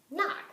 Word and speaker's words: knock: What silent letter combination would make the N sound at the beginning? Would it be K-N, B, W-R, or G-N? I think it would be K-N.